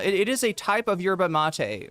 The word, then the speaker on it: yerba mate: and I know also somebody's going to say cherba mate. Yeah, that is the uh what is that? The uh Argentine pronunciation of uh for some reason our Argentinian Spanish a little bit different, right? It's a those Y's turn into CH.